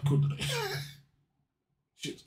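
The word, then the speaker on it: kuudere: Things that people think are Kundere's that aren't actually Kundere's I like.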